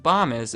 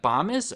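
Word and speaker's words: Bomis: I know it's pronounced bomb is because under their frequently asked questions they tell me that bombus rhymes with Thomas right above does the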